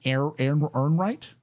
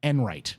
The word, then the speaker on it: Ehrenreich: And this specifically, this video is of Ryan Ehrenreich. I'm going to say his name right. Ryan Enright, I believe.